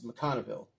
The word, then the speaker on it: McConville: by um comic book writer Rory mcconville mcconville pronouncing his last name correctly with artwork by Brett Booth that's an uh awesome it's mcconville uh Rory mcconville it's an awesome cover there